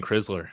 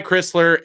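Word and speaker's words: Crisler: that Chrisler I think I was always saying krisler so well and he thought that too so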